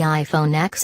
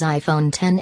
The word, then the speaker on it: iPhone X: people are simply going to call it the iPhone X and not pronounce it as iPhone 10 Apple knows this and the company only uses the X logo in its promotional materials Jony ive says iPhone 10 in the company's keynote video but I'd be